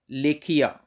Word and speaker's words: Lekhahia: तो वो है लेक हिया, लेखिया, LEKHAHIA। देख लो कैसे प्रोनाउंस करते हैं, लेख हिया, लेक हिया, LEKHAHIA। AHIA, लेखिया।